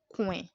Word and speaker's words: coin: It is not a diphthong. So it is pronounced oin and not oua. So that's why we have coin.